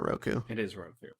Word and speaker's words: Roku: KU explains nuts Roku it's Avatar Roku yeah like the streaming box they would have butchered